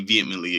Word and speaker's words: vehement: There's an H in there for no reason.